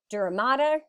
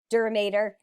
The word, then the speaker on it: dura mater: to hospital on what you're going to hear but again it's one of those things like you say tomato I say tomato same thing here you say duramator I say dura mater both are correct whichever pronunciation you like